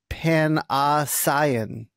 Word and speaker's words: Panosian: Panosian. Panosian, right? You know, Dan? Penicillin. Exactly. Penicillin, like the penicillin.